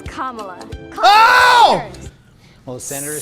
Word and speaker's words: Kamala: not camella it's not kamala it's not camella it's kamala oh well the senator says people mispronouncing her name but says it's easy to remember just combine comma with law and you get kamala kamala it's what i